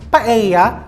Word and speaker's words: paella: It is pronounced as 'Paea', silent L.